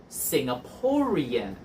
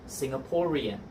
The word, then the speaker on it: Singaporean: Now, even though Singapore ends with an E, the sound at the end is R, so we would say Singaporean, Singaporean.